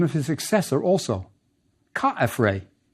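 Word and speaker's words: Khafre: We will see Re in the name of his successor also, Ka-F-Re. The Greeks pronounced his name Kephren, but we can see from the hieroglyphs that Ka-F-Re is closer to the original.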